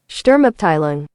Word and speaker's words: Sturmabteilung: and I'm going to show you how to pronounce that if you even care, which you probably don't, but it's, Sturmabteilung.